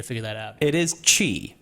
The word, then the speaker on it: Qi: so which is pronounced Qi.